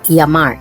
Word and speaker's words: llamar: Many Spanish dialects will turn this double L into a Y sound. Following this rule, this word is pronounced llamar.